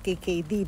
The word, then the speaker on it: GGD: nga sa tinatawag na ah GGD or ang bigkas nila is KKD dito sa Netherland.